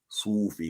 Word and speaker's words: Sufi: too many so-called Sufi Sufi that's how they pronounce it like s-o-o-f-e-e uh references right